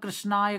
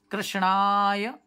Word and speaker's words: कृष्णाय: विनाशाय विनाशाय श्री कृष्णाय बहुत से लोग कृष्णाय कर देते हैं ना अ है तो ना का ही उच्चारण करना है कैसे श्री कृष्णाय वयम नमः क्या है